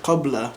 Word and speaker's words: qabla: You have another Arabic word, qabla, to mean before. They would say abla. Qabla, abla.